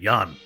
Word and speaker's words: Yeun: He's normally so good, and I had to look up how to pronounce Yeun. From the man himself, it's just like Y-U-N, Yeun.